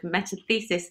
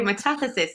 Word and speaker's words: metathesis: I'm also noticing a difference in pronunciation with me and my English pronunciation of metathesis, and you guys all say metathesis. So I'm going to correct myself.